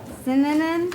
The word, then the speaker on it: Sinanen: Sinanen? Mr. Synonym is that Sinanen? how he pronounces it, yes. Okay. Like cinnamon? Like cinnamon? Okay.